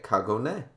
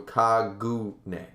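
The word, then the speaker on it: kagune: pronounced in Japanese okay kagone so it's kago kaguna Cog go no it's not go that's goo so kaguna all right fine Danny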